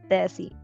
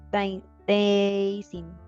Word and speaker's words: dancing: Sally doesn't like dancing. Dancing. Dancing. Dancing. Aunque tengamos aquí una A, pronunciamos una E. Dancing.